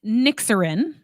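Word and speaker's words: Nyxiryn: bunch of letters together it's pronounced nixin that sounds like a medication doesn't it it's a combination of nxs uh the Greek goddess of the night and uh Reena which means peace in Greek we thought it sounded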